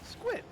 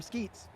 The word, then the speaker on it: Squit: was pronouncing them as squid. Because that's what it's spelled. Skew it, right? Folks highlighted that S-Q-U-I-T is just a part of the word mosquito. So now I call them skeets.